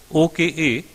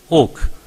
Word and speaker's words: Oka: Last year in the Supreme Court, I was in a bench headed by Justice Oak, O-K-A. Many pronounce as Oka, but in Maharashtra they pronounce him as Oak.